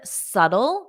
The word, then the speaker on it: subtle: so notice this word subtle the B is silent subtle subtle subtle and